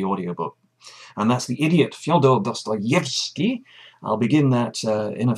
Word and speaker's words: Fyodor Dostoevsky: of Russian names by capitalizing the stressed syllable in all those names. So it's Fyodor Dostoevsky, which is a great little help, but I hope it doesn't get in the way later on.